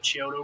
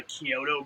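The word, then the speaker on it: Chiodo: Killer Clown creators, and I kept calling them the Kyoto brothers because that's what it looks like it's spelled, but it's the Kyoto brothers.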